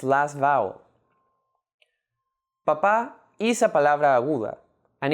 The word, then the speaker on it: papá: In the previous video, we mentioned that las palabras agudas refers to words in which the last syllable is the stressed syllable, like in the words papá and igualdad.